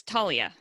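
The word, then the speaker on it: Taulia: I can't even pronounce his first name. It's Talia.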